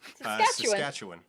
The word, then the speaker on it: Saskatchewan: How are you supposed to pronounce Saskatchewan? Saskatchewan.